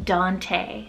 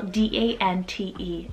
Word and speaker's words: Dante: we have the name dante so d-a-n-t-e dante this one is pronounced in spanish and english the same and the spanish meaning